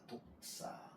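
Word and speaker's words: δόξα: 독사 발음을 잘하셔야 돼요. 독사하면 어 솔펜트 뱀이에요. 솔펜트 독사 독사 이렇게 읽습니다.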